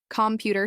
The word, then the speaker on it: computer: For example, computer shows that PU is stressed.